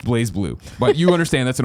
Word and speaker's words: BlazBlue: Works posted on Twitter their restrictions for streaming blossom Lew pronounced BlazBlue but you understand this an old beyond thing